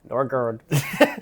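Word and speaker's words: Nørgaard: I've seen video of him pronouncing his name. Nor.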